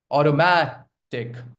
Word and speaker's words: automatic: Automatic. Automatic. Automatic. Okay. You can make it sound like D also or automatic is also correct. Okay. Autoomatic. But the stress lies on the third syllable.